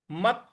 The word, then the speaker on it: मत: युक्त आसीत मत परह मत यहां मत जो आ रहा है यहां पर भी हल्का सा बल लगाना है तो बल लगाना यानी